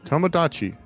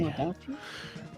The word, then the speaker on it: Tomodachi: Tomodachi with a D. Tamagotchi? Yeah. Huh. Is Tamagotchi a different thing, or have I just been pronouncing it wrong? Tomodachi is a Nintendo IP. Tamagotchi is the little animal thing you play with Okay.